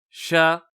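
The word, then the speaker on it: ش: Ensuite, nous avons at-tafashi, c'est la propagation de l'air et du son lors de la prononciation de la lettre, et la seule lettre concernée, c'est la lettre shin, ash, ash, sha, shu, et ainsi de suite.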